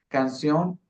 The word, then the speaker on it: canción: Canción. Si era escrita con cedilla, se tenía que pronunciar canción. Canción con ts y palabras escritas con la Z española.